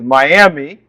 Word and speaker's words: Miami: fireplace and stoves okay so some people if they are coming from a Floridian perspective like me uh might think okay the way I pronounce it is Miami that's how I would have pronounced it before I lived in Oklahoma for such a long time but the way you